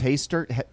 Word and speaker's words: Hastert: Oh, Dennis Hastert? Yeah. Hastert? Did I say it wrong?